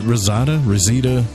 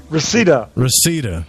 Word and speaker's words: Reseda: Preston, did I say that right? Rosetta? Rosetta. Reseda. I knew I said it wrong because it sounded wrong.